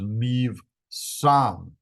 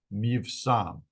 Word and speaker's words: Mivsam: If it doesn't have a dot, then it's pronounced as a V. So this is Mivsam. Mivsam.